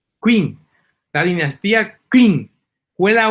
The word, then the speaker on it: Qing: Se escribe Q-U-I-N-G, Qing.